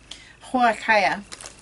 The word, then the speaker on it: huacaya: of them was a it was a huaykaya that's how you say it okay yeah i